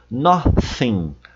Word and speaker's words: nothing: Nothing, nothing, no me da palavra, nada.